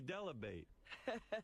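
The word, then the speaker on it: Dell'Abate: Gary Delabate rhymes with debate by Sher.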